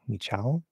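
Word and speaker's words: Michał: uh so uh me we also have that weird polish l so I know that's pronounced as a w sound now thank you so it'd be like me me I don't know if it's a cut or cha but me Michal sorry and I don't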